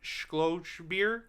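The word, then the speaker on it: Skjoldbjærg: It is directed by Erik Skjoldbjaerg.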